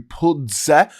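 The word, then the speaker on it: Puzder: US ambassador to the EU, Andrew Pudze, called this fine absolute garbage and labelled the DSA as excessive regulatory overreach.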